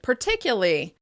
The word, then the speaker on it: particularly: "Particularly" might drop that second /r/ sound as well, and sound like "particyuly, particyuly."